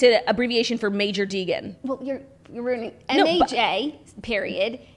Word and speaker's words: Major Deegan: So when I first saw it, I always thought it was the Maj Dijon. And I was on the phone once with someone when I was in the car with Olivia. And I was like, we were going to New Jersey. I was like, I'll be there soon. We're on the Maj Dijon. And She was like, what did you say? I was like, I said we'll be there soon. It's Major Deegan.